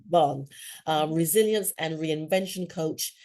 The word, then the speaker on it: Vaughan: Vaughn, like Sarah Vaughn. Vaughan, Mhm.